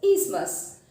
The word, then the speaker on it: isthmus: This is pronounced as isthmus.